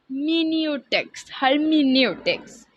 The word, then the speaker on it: hermeneutics: इसका दूसरा नाम यहाँ पर लिखा हुआ है hermeneutics। इसकी प्रोनाउंसिएशन यही है, hermeneutics।